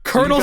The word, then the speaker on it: colonel: Colonel Sanders versus a kernel of popcorn. Go. Because those are both pronounced the same way.